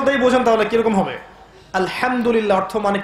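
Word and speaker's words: الحمد لله: এখানে যে হা আছে এটা কি বড় হা না ছোট? হুত্তি না হাওয়াস? হায়ে হুত্তি, এটাকে বলে বড় হা। উচ্চারণ কোথা থেকে করতে হয়? মাঝখান থেকে। মাশাআল্লাহ।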